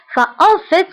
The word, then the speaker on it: en fait: فانتبهوا هنا في تنطق ب في ولكن إذا سبقتها on فكنقولوا en fait. en fait كتعني في الحقيقة أو في الواقع.